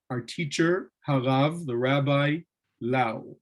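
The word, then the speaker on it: Löw: Maharal is an abbreviation of Morenu, our teacher, Harav, the rabbi, Lau, or Lef, as they pronounce it here.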